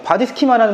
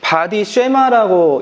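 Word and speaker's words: body schema: 중요하고 바디 이미지도 중요하고 바디 스키마라는 말 들어보셨습니까? 내가 내 신체를 인지할 수 있는 능력. 이거를 바디 쉐마라고 영어에선 읽어요. 근데 원어은 바디 스키마라고 읽어요. 둘 다 맞는 말이니까 여러분들 취향대로 쓰시면 됩니다.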